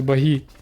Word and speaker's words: баги: Ні-ні-н це баги. Наголос на і.